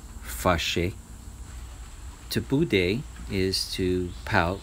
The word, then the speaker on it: fâché: The next one is to get mad or to get angry, and it's pronounced fâché.